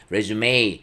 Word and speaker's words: résumé: 악센트 기호가 있으면 다시 시작 하라는 뜻 입니다 . 이력서 (résumé) 는 " 레수메 " 라고 발음 하는 거 예요 , 알겠죠 ?